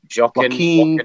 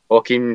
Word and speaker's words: Joaquin: joking how do you say his first name Keane Phoenix Joaquin Phoenix finished his Joker was gonna be any